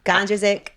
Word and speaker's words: Gondrezick: Why do you prefer Kai over Kysre, over Kysre, Gondrezick? You pronounced it right.